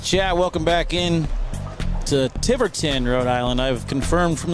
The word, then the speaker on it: Tiverton: Welcome back in to Tiverton, Rhode Island. I've confirmed from the locals here it's pronounced Tiverton, not Tiverton.